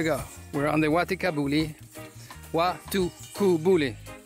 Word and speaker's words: Waitukubuli: Waitukubuli, that's the correct way to say it.